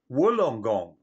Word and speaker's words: Wollongong: actually spelled as long gong but it's actually pronounced as wolongong okay here comes another another brain teaser from